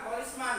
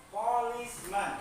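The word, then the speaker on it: policemen: Inggrisnya polisman polisman polisman bukan polisman ya tapi polismen pengucapannya menggunakan eh pengucapan bahasa Inggris yang benar polismen Oke kita lanjutkan ke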